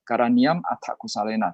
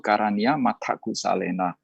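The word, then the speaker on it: karaṇīyam atthakusalena: Tapi jangan gara-gara saya ngomong begitu nanti kalian baca parita menjadi karaniam atta kusalena. Tidak, tetap kalau kita menggabungkannya menjadi satu kalimat itu bacanya itu karania mata kusalena, ya.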